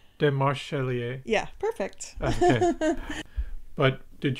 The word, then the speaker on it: Demarchelier: I don't want to pronounce the name wrong. It's okay. Demarchelier. Demarchelier.